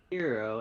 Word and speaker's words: Gyro: It's pronounced hero, and it's great.